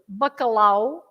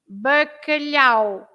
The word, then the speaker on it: bacalhau: Lots of people pronounce bacalhau, right? Yes. Instead of bacalhau, it should be bacalhau.